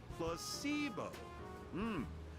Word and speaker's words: placebo: vocabulary today I'm underage repeat after me placeo the stress is on the middle syll place very good you're